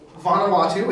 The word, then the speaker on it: Vanuatu: So, Vanuatu, it's how it's pronounced.